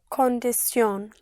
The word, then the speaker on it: condición: Like condition would be Condición. condición. Condición. The condition. La condición. La condición. A condition. Una condición.